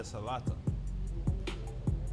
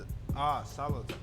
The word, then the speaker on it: salata: The salata. The salata? Salata. It's like Salata. salad, you know, like in Spanish, but we just say salata.